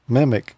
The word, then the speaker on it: MMIC: monolithic microwave integrated circuit sometimes it's pronounced mimic it's type of integrated